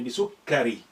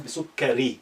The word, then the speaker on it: بسكر: بسكر يعني بسكري. But you know, at the end, imaginary سكون is good. So أفضل الشاي, so you have your shadda there, بسكر rather than بسكري. That's the complete pronunciation.